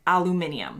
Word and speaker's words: aluminium: Americans say aluminum, Brits say aluminium.